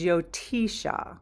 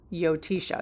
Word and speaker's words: Jyotisha: The original name is Jyotisha. Jyotisha. It's spelled with a J, but pronounced with yo. Jyotisha.